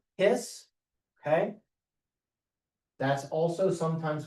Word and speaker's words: His: I know it's spelled His, but it's pronounced His.